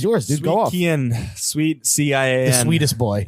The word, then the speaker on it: Cian: Kian. Sweet CIAN. The sweetest boy. It's spelled. It's pronounced Kian. Key.